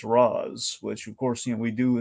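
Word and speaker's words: Ra's: like everyone's always like there's always the debate of like what's the proper pronunciation like going to the derivation of ratio the Arabic for it I I side with Danny O'Neil I side with the Animated Series I say it's re that's where I come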